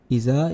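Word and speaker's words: إذا: Iza is elongated there just a little bit due to the Alif.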